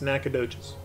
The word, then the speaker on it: Nacogdoches: this way through nacogdoches yeah that's how that's pronounced nacogdoches in this town a character off on a